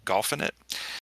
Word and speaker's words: Golfing It: it and it's spelled it's basically like infinite but with golf instead of n so golfin it and it is uh